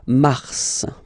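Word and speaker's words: mars: it's an exception because normally final s is not pronounced in French okay we've got some exceptions and this one is one of them so Mar pronounce the final s mar mar okay then ail ail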